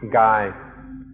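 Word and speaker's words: กาย: The original word the Buddha used was kaya, and this word also occurs in Thai and is pronounced gai.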